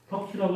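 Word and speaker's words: Tukey: 턱키라고 아니고 턱키라고 읽어도 되는데 이 앞에 가서 뭘 우리가 이거는 턱키 체크 안 했었는데 224쪽 가서 봐.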